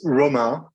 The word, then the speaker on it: Romain: A lot of people say Omar, so it's even not Romain or Romain. It's Romain, but you can say Romain like the letters.